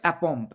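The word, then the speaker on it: aplomb: এল যদিও আছে, এল উচ্চারণটা হবে না, অর্থাৎ এখানে ল সাইলেন্ট। তাহলে কথাটা হচ্ছে অ্যাপম্প।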